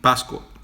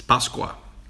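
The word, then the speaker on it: Páscoa: Pasco I keep saying I keep saying Pasco in in Portuguese thinking I'm speaking saying it right but it's not right it's Pasqua in Brazil so I don't know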